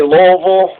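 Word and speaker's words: Louisville: got louville and it's you're supposed to say Lille that's how you're supposed to pronounce it with two syllables l v but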